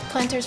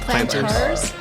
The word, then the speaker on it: plantar: Planters fasciitis. Is that how you pronounce it? Planters. Plantars. What? Plantars. Plantar is no s. No s.